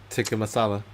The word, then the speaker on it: tikka masala: Tikka masala.